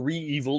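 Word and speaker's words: REvil: successful ransomware groups um are evil or re-evil depending on how you want to pronounce it uh they were targeted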